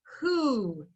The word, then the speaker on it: who: who that w h we don't hear the h in the word who and um usually when we have an open syllable it would say o but this one is ooh so our word is